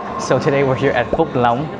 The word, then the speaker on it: Phúc Long: So the correct pronunciation of this place is Phúc Long.